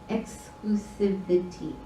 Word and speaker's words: exclusivity: This exclusivity or separation, exclusivity. If you say it fast, you miss an extra syllable in there.